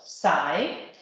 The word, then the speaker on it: psi: In English, it could be pronounced psi, which relates to the rotation of bond C and C alpha.